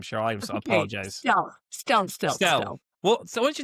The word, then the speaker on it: Stelte: The one and only Cheryl, is it Steele? Is that how you say it? I'm terrible last name, Cheryl. I Okay, apologize. Stell.